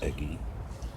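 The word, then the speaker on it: Ege: Eggy, E-G-E, I guess that's pronounced Eggy.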